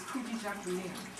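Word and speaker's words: Kujichagulia: The second day, which is December 27th, is Kujichakulia. I know the pronunciation. Peace by you. Kujichakulia means self-determination.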